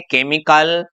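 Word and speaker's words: chemical: भाई जब सी के बाद में एच आ जाए और लेकिन उसको हम बोले क, यदि हम उसको बोले क तो उस कंडीशन में हमारा एच है वो साइलेंट रहने वाला है।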